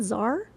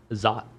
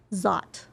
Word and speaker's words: Szot: Because it's like, how do you pronounce it? Zar? Zot. Zot.